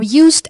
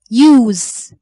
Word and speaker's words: use: If they are used as verbs, so they have Z sound at the end. Use, excuse.